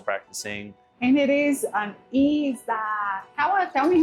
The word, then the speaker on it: izakaya: And it is an izakaya. Tell me how it's pronounced. Izakaya.